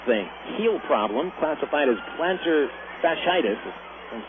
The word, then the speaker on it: plantar fasciitis: one martin with a heel problem classified as plantar fasciitis and saying it correctly to one pitch from